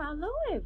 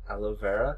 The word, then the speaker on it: aloe vera: repellent on wrot some Alo on it Alo I don't know if that's how you say it aloe vera don't be so silly howo work it's it's aloe vera but aloe ver where